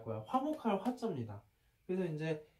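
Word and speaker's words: 和: 그래서 이제 그 중국 발음으로는 그 일본 발음으로는 와라고 하고 우리나라 발음으로는 화라고 하고 중국 발음으로는 두 가지 발음이 있는데 일단 하나의 발음은 넣어두자. 좀 약간 굉장히 한정적으로 쓰이니까 그건 아직 몰라도 될 것 같아. 그래서 이제 제일 많이 쓰이는 발음은 흐어거든.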